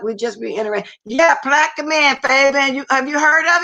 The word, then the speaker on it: Plaquemine: Yeah, Plaque Man, Fabian. Have you heard of it? Wait a minute. Let me see. Have you heard of it? Yeah, little bitty town, huh? Yeah, Plaquemine.